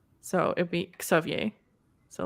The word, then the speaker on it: Xavier: It's not a Z. No. We pronounce it as KS. So it'd be Xavier. So like instead of Xavier.